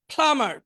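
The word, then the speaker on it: plumber: প্লামার পানির মিস্ত্রি, এখানে বিটা উচ্চারণ হবে না, প্লামার পানির মিস্ত্রি।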